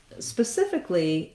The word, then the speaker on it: specifically: cif and specifically uh the letter c in the first letter c in specific says the s sound so um that's the first thing to note there's two s's uh the first letter s and then this letter c both say s uh i want my